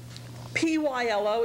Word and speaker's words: pylo: is the last part of the large intestine p y l o is pronounced pylo and p y l o r